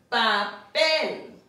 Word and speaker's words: papel: Now remember we said if a word ends in a consonant other than an N, R, and S, the last syllable will receive the stress.